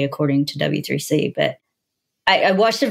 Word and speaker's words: W3C: always get it wrong is it WC3 or w3c we always mix up like which one it's w3c w3c okay I was saying